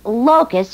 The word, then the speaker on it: locus: Now, what does locus mean to you? It's an insect, and when they come in swarms, they eat plants and leaves. No, that's locust. I said locus. L-O-C-U-S, locus.